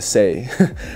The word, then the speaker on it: Saye: um what's that one sneaker beija like veija saye will be right there and people will be calling it say but it's pronounced say people all right next let's see